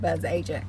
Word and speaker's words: Bzzagent: agent however you want to pronounce it always pronounce it buzz agent because I like the way that sounds better